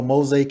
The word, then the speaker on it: Mozay: bit about you know mosaic who you are so the world understand why you're so powerful sure you know um my name is mosai that's spelled m-o-z-a-y like call old